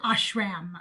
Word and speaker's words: ashram: They would go on these retreats that they called ashrams, and they might pronounce it ashram, okay, but it's ashram.